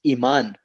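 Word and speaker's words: imán: It's iman.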